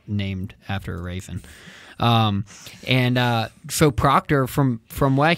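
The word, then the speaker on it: Raisin: It's spelled like Raven. I always call it Raven, but we'll be fancy and call it Raison.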